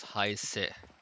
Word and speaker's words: Hayes: Pronounced as Heise.